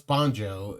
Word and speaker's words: Banjo: I think it's No, it's Banjo. That's how they pronounce it in the show.